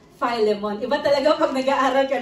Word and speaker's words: Philemon: noon I thought that I thought that the pronunciation of this is Philemon in in in Philippines but I learn that the pronunciation of this another another Uh another learning is Philemon Iba talaga agag nag-aaral